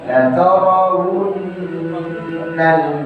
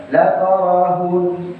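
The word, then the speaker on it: لترونّ: dengan ayat ke-7 itu rawan di tengah masyarakat membacanya yang salah atau kurang tepat, wawunya hilang. La taraun berubah jadi hamzah. La taraun bukan la tarawu bau bagainya. La tarawunnal jahim. Ada sebagian yang membaca la tarahun jadi ha.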